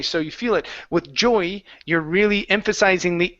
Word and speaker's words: Joey: door Joey slams yeah so it almost feels like you're saying Joy but it's Jo so you're adding more of an o sound in there Joe Joey Joey yeah so you're bouncing off of that o a little bit more than Joy okay Joey uhuh Joey